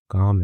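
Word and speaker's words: calm: काम काम मतलब कॉलम नहीं है। काम है जिसमें एल साइलेंट होता है।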